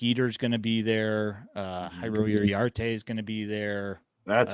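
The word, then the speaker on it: Jairo Iriarte: um uh Jake eater's gonna be there uh hyro yarte is gonna be there that's how you say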